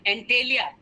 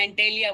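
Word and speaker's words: Antilia: घर आपको पता होगा एंटेलिया उसका एंटालिया कुछ लोग बोलते हैं कुछ लोग एंटेलिया बोलते है basically it's एंटेलिया एंटेलिया pronunciation different एंटेलिया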